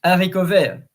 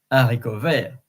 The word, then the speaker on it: haricot vert: And then in terms of accents and pronunciation, in French, we don't pronounce the H. So in English, you could say helicopter, but in French, hélicoptère. So it's the same with haricot vert.